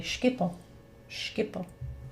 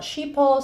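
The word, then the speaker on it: Schiphol: the same way and she told me skipple there you go some people call it sheeple some people call it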